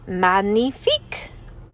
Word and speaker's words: magnifique: make anything look fancier Magnifique I say that's French for magnificent you say it like this Magnifique I walk back to